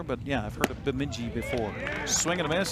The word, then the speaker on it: Bemidji: From, you tell me how to pronounce that. Bemidji. Bemidji State.